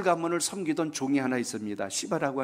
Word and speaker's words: 시바: 시바라고 하는, 이 발음을 잘 하셔야 돼요.